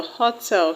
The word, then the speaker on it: hotel: The word hotel has its stress on ho.